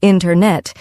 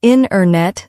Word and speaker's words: internet: We don't usually say internet, instead we say internet. The T sound gets softer or disappears.